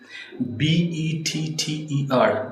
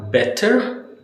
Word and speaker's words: better: So you need to understand when you need to use flat T when you have words and you have T between the vowel sounds right better and instead of can it's can right.